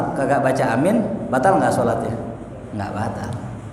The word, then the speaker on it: Aamiin: isim fi'il ya Nah ada dua bacaan kata beliau cara bacanya Yang pertama amin Panjang anya ya amin yang kedua bacanya nih Amin gitu ya enggak ada yang ketiga Amin enggak ada gitu dibaca pendek enggak ya enggak Amin enggak tapi boleh enggak ya boleh-boleh aja ya sah-sah saja cuma kalau